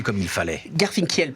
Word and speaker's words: Garfinkiel: Garfinkel plutôt. Garfinkel. C'est comme du miel en fait. Ouais, généralement tu dis pas du meule, mais c'est ça. Voilà, Garfinkel.